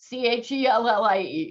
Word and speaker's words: Chellie: Chellie.